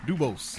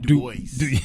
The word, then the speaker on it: Dubose: Man, how do you say your last name? Dubose. Okay, now you know the other translation. What is it? Dubois. Dubois.